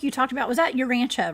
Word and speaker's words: Urantia: It looks like Uranita, but it's Urantia.